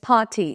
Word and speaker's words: party: Party উচ্চারণে কিন্তু আর pronounce হয় না। It's party, not party. Okay? It's party. Fine.